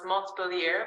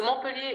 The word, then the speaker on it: Montpellier: Some pronounce Montpellier, but we don't pronounce the T usually. So Montpellier is the name of